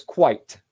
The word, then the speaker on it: quite: The last one is one syllable and it's quite.